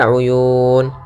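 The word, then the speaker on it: العيون: Uyun yaitu di sini lafal Uyun yaitu adanya Mad alid lukun pada akhir bacaan Uyun Nah di sini kita boleh panjangkan dua harakat atau empat harakat atau harakat w'alna fiha jannatim Min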